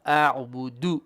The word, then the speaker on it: أعبد: Okay, the first da, la a'budu. It's a short vowel. A'budu, and you stop it.